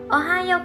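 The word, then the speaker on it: おはよう: Another thing I discovered from my part-time job in Japan, I would greet my coworker with Ohayo gozaimasu even if I starting my shift in the afternoon or in the evening.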